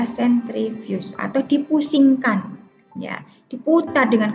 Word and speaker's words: sentrifugasi: Walaupun tulisannya sentrifugasi, pembacanya adalah sentrifuge atau dipusingkan, ya, diputar dengan kecepatan yang tinggi.